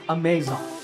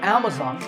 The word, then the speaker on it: Amazon: internet shopping giant amazon this word is commonly mispronounced amazon when you say it correctly the first syllable is a and the stress is on this first syllable so amazon is correct once again amazon next